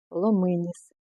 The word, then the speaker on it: ломиніс: мають одну назву ломиніс я перевірила наголос в орфографічному словарі так і да ломиніс наголос падає на и а не на і його не треба обрізати